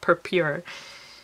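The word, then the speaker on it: Purpure: u RP u re so I'm assuming that's pronounced per pure alright then we can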